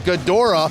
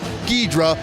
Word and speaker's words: Ghidorah: Jeremy, and he's dressed as Ghidorah, that's the Japanese pronunciation for Ghidra that we know here in the United States.